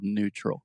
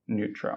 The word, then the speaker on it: neutral: things real quick first the word neutral I'm almost hearing okay and no no but it's just new just like something is new Earl neutral neutral okay perfect and secondly